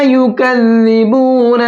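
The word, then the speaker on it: يكذبون: अल्लज़ीना युकज़्ज़िबून बियौमिद्दीन, यहाँ पर भी जाल है, यही वाला सॉफ्ट करके पढ़ेंगे।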